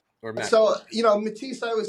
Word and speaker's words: Mattice: it but M or mat so you know matis I would say sounds like I like mati it's like stronger um people uh they say matis and I'm like you know let's go mati